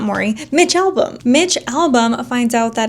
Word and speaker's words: Mitch Albom: It's by Mitch Albom is how you say his name.